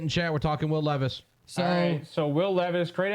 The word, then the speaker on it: Levis: order in chat that's no big deal it's Levis yeah if you look at the pronunciation if you look at the pronunciation of